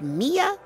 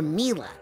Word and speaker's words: Mila: hello is it pronounced mia or mila well it's short for camila you know but when